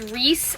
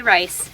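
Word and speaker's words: Reiss: on Poshmark was this Reese Blazer r-e-i-s-s I know that it's pronounced Reese I lived in England I know that and some people say rice and that's just ain't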